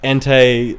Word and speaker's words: Entei: yeah, like the legendary dogs, which are all pronounced way different than I thought. Oh really? Yeah, I was like Entei Suicune.